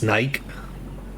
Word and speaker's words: Nike: We pronounce Nike like the word like, so it's Nike. But instead of, yeah, so like Nike.